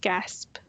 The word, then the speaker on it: GASP: Then we have the Generally Accepted Scheduling Principles, known by the acronym GASP, pronounced GASP.